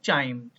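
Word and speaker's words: chyme: बनता है after churning, इसको बोलते हैं चाइम, ठीक है। या काइम, प्रोनाउंसिएशन आपकी अपनी है, ठीक है बेटा।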